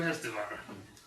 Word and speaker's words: Hestavar: Welcome to Hestavar. Hestavar? You must roll your R's.